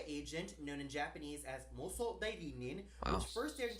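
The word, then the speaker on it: 妄想代理人: Hey everybody, it's Tony here with a review of Paranoia Agent, known in Japanese as Moso Dairinin, Wow. which first aired in Japan. I think he actually pronounced that correctly.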